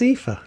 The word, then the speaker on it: Aoife: It's pronounced Aoife.